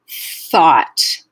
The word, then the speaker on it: thought: folds thought thought so if you want to check in with this word in terms of voicing you won't feel voicing until the vowel and then the voicing will go away because the end of the word is voiceless right it's not thought it's thought so that piece of voicing in the middle is quite short compared to though which is voiced the entire way through though voices voices activated the whole way through thought is a little